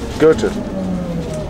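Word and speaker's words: Goethe: less interesting than looking Gerta Gerta you say Gerta Gerta Gerta the r there's no R I have no idea why you pronounce it with an R ger Gerta Gerta think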